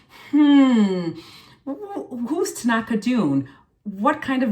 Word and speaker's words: Tanaka: So my name is Tanaka Dune, and Tanaka is spelled T-A-N-A-K-A, and the last name is Dune.